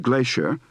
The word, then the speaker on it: glacier: fancy gas Mass and Glacier sounds like glassier without the r but note glacial is